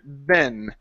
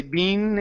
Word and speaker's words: been: job all right so good correction on the word Ben okay you C yourself say bean and then you switch it that was good okay